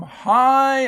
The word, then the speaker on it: high: Number 2, Jim looked down from high up in the tree and yelled, "Hi!" Notice the IGH says I.